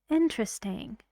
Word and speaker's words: interesting: what do you think in this word interesting this silent and this one is very short and fast so you say interesting is it interesting we